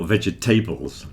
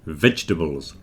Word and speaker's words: vegetables: on everybody knows that we don't pronounce the middle part of vegetables it's certainly not vegetables don't stress the tables